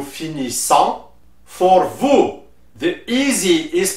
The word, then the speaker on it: finissons: For nous, the S at the end is silent, so you will say nous finissons.